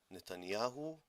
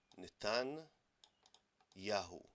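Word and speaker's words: נתניהו: Ben Yamin, the son of the light, Netanyahu. Natan Yahu, as we say, Natan Adonai, God-given.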